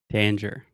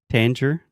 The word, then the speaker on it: Tanger: right because Tanger Outlets Danger Danger Danger Danger outlet outlet danger outlet okay can I give you a quick correction Tanger Outlets that's almost like you're saying danger except Angier danger yes